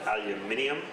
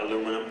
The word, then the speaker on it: aluminium: Then they started using aluminium, not aluminum. That's a completely different product that's spelled incorrectly.